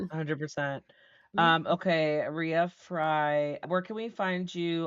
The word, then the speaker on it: Rea Frey: It looks like Ray, but it's not. It's Ria Fry.